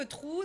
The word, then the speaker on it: True: Ça se voit que Trou, c'est une magicienne. Alors, Trou, attention, ça s'écrit comme True in English. C'est pas un trou, quoi.